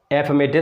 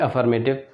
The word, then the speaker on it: affirmative: शुरुआत करते हैं हम सबसे पहले एफर्मेटिव सेंटेंसेस से। इसका करेक्ट प्रोनाउंसिएशन आपको ध्यान रखना है, एफर्मेटिव ना कि अफर्मेटिव।